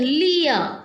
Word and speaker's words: Lear: See, children, pronunciation, Lear. R is not pronounced. Only till A I am pronouncing. Lear. Try to say it, children. Lear.